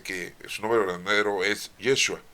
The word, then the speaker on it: Yeshua: su nombre verdadero es Yeshua o Yeshua. ¿Sí? Bueno, es la pronunciación en arameo, porque después ya tenemos la pronunciación en griego, después en latín y ya después en nuestro idioma.